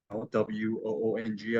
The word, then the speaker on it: Woong: That's spelled, I know, W-O-O-N-G as you see on the screen, but it's pronounced like moon without the M or spoon without the SP. That W is silent. It throws everybody off, so don't feel bad about it. So, but Woong with a G at the end is authentic way of saying it in Korean.